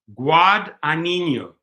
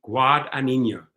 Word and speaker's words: Guadagnino: Okay, here's how it's pronounced. Guadagnino. Thank you. Guadagnino. Thank you for helping me out, Patrick. I didn't want to slaughter your name and say it wrong.